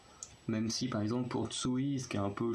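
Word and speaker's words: Tzuyu: qu'en fait c'est juste Tsui, le U, du coup le premier U se prononce comme un OU, comme chez les nordiques, et le deuxième en fait se prononce pas.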